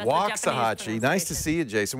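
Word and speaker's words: Waxahachie: right there wax a wax a Hatchy waahi waxahachi all right waxahachi nice to see you Jason what can we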